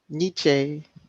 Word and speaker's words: Nietzsche: that for some reason adams and um nietzsche that's how you pronounce it nietzsche nietzsche uh-huh we're stuck on